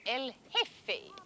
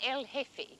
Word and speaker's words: El Jefe: Generalissimo Franco is called El Jefe, the chief. G-E-F-E, the J is silent, El Jefe.